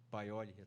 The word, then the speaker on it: Paioli: Paioli, né? Que se pronuncia? Paioli, tá bom.